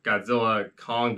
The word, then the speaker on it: Godzilla x Kong: he won't be alone Godzilla X Kong or Godzilla and Kong or Godzilla Kong because the director said the x is silent oh well I'm just